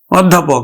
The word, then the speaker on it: অধ্যাপক: উচ্চারণ কেমন হবে দেখো আদ্য ও এর পরে কিন্তু একটা জ ফলা আছে জ ফলা থাকার ফলে আদ্য অটা ও এর মত উচ্চারিত হবে অর্থাৎ সংবৃত উচ্চারণ হবে তাহলে আরেকটা জিনিস হলো